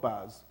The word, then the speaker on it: bar: So it's pronounced bar like a sheep.